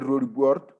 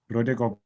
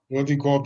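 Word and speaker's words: Roodekop: He's from Sikukune, and he's currently at Rodiport.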